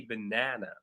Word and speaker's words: banana: Even when I pronounce it, I say banana, right? So I'm putting more stress. I'm I'm I'm I'm I'm speaking louder in the second syllable than in the first or the last.